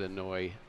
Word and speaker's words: Inouye: I happen to know you pronounce that Inouye just because there was a man who was like a state representative sort of in my city or something. I mean, like a House representative. And his name was Inouye.